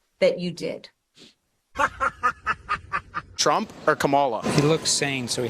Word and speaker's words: Kamala: He was saying that 99% of this area is voting for Camilla. Is that how you say it? Kamala. Kamala. Who are you voting for?